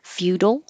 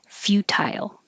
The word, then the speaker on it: futile: or keep the t and make it an i tile futile again i hear both ways feudal futile english i usually represent